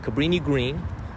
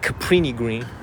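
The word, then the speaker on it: Cabrini-Green: from the movie Candyman Cabrini Green not caprini green I used to take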